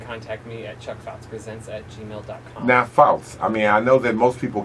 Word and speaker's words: Pfoutz: All right, Pfoutz. Correct. It's coming under Pfoutz. Yeah, right. Okay. All right. The P is silent.